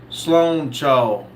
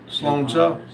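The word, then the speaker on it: sláinte: Um, comrade said it's pronounced Sloan Cha. Slocha Sloan Ca Sloan. Sloan Cha in Iris, which means basically cheers.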